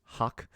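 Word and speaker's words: Hoch: It's pronounced Hawk, H-O-C-H.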